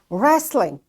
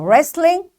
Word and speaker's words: wrestling: this W is silent wrestling it's a game you know so wrestling this W is silent because there is R after this W likewise wrong ren it's